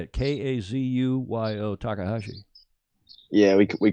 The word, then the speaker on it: Kazuyo Takahashi: Kazuyo Takahashi.